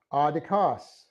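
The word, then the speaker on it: ἄδικος: And we have adikos, the accent's on the first syllable.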